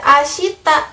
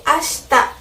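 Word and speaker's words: 明日: Ashitanya nggak dibaca ashita, tapi ashita.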